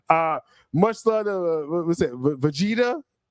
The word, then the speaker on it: Vegeta: Vegeta.